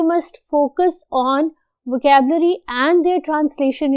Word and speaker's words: pho: उस ऑथर ने basically describe किया है वियतनाम का एक बहुत स्पेसिफिक सूप जिसको कहते हैं फू. फू जो है उसकी प्रोनाउंसिएशन FEU है, फू, राइट.